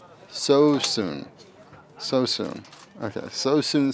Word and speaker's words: Suisun: So soon city is how we say the name of this uh this team here.